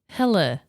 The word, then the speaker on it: Helle: She told me it's like Helen without the N. So I say Helle. Oh, Helle.